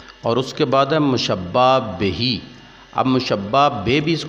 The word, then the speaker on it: مشبہ بہ: کھڑی زیر ہوتی ہے، تو اس لیے اس کا اصل تلفظ ہے مشبہ بہی۔ اس کو مشبہ بے بھی پڑھ لیں گے تو کوئی غلطی نہیں ہوگی۔ جیسا کہ آپ کو پتہ ہے ہمارے برصغیر میں 2 لہجے چلتے ہیں عربی کے، تو اس لحاظ سے اسے مشبہ بے پڑھ لیں یا مشبہ بہی تو دونوں تلفظ درست ہوں گے۔ تیسرے نمبر پر ہے